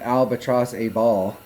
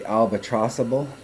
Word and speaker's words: Albatross-A-Ball: in the albatrossable albatrossable i kept pronouncing it albatross a ball but thunner has pointed out that they're probably trying to do the albatrossable so that's it albatrossable